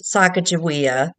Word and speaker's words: Sacagawea: So the politically correct is Sacagawea, Oh, and our pronunciation is the Mandan, Okay.